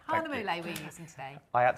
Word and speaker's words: Hahnemühle: Yeah, Hahnemühle. Hahnemühle we're using today. I had to write it down phonetically because I forgot it.